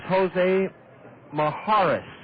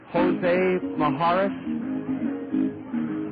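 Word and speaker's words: Jose Mijares: their Bullpen it is hose Maharis now wait we pronounced his name wrong Jose Maharis m i j a r s a left-hander from Venezuela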